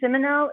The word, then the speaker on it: Simoneau: got your name right i always want to put the accent on the neo but i believe it's not there is it thank you madam chairwoman no it is uh simoneau that is not your